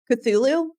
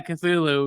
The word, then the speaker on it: Cthulhu: I, of course, had to look up the pronunciation for this, and now as I'm taking a look at the word, Cthulhu mythos. Oh yeah, Cthulhu.